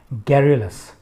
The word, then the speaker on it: garrulous: The third one जो आप देख पा रहे होंगे अपनी स्क्रीन्स पे, that is garrulous, spelt as GARRULOUS, and it is enunciated and pronounced as garrulous।